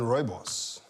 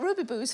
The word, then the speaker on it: rooibos: But is it better than rooibos? Ooh, that's a South African tea, isn't it? Rooibos. I'm so glad that you said I didn't know how to pronounce that. Rooibos. I've been calling it ruby booze for years.